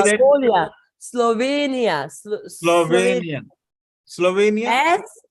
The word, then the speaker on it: Slovenia: do you say that Slovenia Slovenia Slovenia yes so it's as like Sarah that itself okay and then it's inia okay so almost like Kenya but not with the